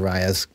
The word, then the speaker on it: Raya: I was pronouncing it Rhea before, but it is Raya.